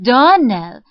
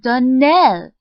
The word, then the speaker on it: Donnell: you pronounced our name darnell now miss shirley the correct pronunciation of our name is danelle accent on the last syllable i hope you remember